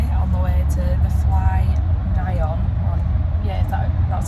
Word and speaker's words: FlyNyon: And we're in a taxi on the way to the FlyNyon. That's how you pronounce it, FlyNyon.